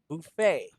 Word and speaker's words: buffet: next one perfect okay this is how it's pronounced buffet buffet yes buffet buffet buffet is actually a